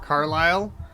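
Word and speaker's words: Carlisle: yes oh okay and we are not pronouncing the S Carlile car know the British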